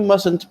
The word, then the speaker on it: mustn't: or guns or grenades the first t is not pronounced you mustn't play with matches regularly